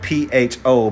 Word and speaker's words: pho: Vietnam, they call it pho. It's spelled P-H-O, but you almost pronounce it like fur, F-U-R, but the R is like semi-silent, so you say pho.